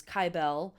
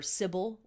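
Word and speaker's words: Cybele: the most strongly is cable or Sybil her name is pronounced both ways who was a goddess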